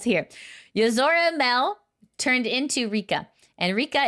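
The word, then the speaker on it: Yozora Mel: news this is okay I'm going to say it properly because everyone was busting my chops in the comments this is yora Mel yora Mel was a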